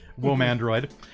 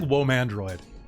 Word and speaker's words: Womandroid: Okay, so you have had a couple of run-ins on Reddit with Womandroid, is how her name's pronounced. Sorry, I gotta get that right. Womandroid. Or Womandroid. I like Womandroid. Whoa, man, droid.